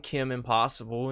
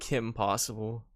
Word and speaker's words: Kim Possible: even managed to do I kept saying Kim impossible instead of Kim Possible until like maybe I